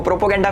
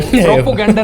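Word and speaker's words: propaganda: Anti India लिखो, प्रोपोगेंडा फैलाओ, प्रोपोगेंडा फैलाओ। प्रोपोगेंडा नहीं Elvish, प्रोपेगेंडा होता है।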